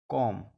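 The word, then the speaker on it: comb: इसके यह उदाहरण है जब एम के बाद बी आए तो बी साइलेंट रहता है जैसे सी एम बी B silent रहेगा कॉम डी यू एम बी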